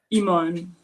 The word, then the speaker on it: Iman: and how do you say your name exactly Iman last name andj and that's the part that